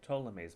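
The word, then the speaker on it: Ptolemy's: this is known as ptolemies model of the universe this is known as a ptolemies model this is known as Ptolemies model of the solar system in his name the P is silent in ptolemies model of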